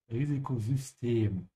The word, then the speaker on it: Risikosystem: The Y sound here in German doesn't sound like a Y. It sounds almost like a U with umlaut. So you have to say Risikosystem and stretch the E.